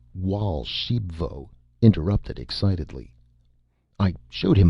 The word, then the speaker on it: Raoul Archambaud: And Raul Archembbod, pronounced Walsh Sheepvo, interrupted excitedly.